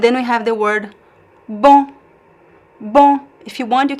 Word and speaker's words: bom: It can be just a single vowel, on, bom.